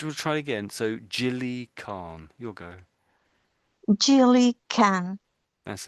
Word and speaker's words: Khan: Khan.